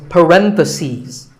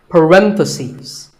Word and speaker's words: parentheses: If you're talking about both, the plural is parentheses. The last syllable becomes C's. Parentheses.